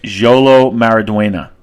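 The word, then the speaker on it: Xolo Maridueña: Jolo Maraduena. That's how you pronounce it.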